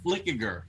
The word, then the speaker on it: Flickiger: Flickiger. Okay. I did it. That's how you say it. Flickiger.